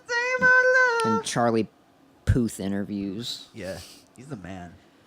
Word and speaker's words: Puth: And Charlie Puth interviews.